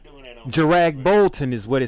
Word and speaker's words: Kjeragbolten: So we'll say like a Kajbolton or something like that. What? No, Kurdrag Bolton. We're not doing that on Jarag Bolton is what it say.